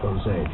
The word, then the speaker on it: Jose: first composer's name is Jose but it's James h o s a y Jose it has nothing to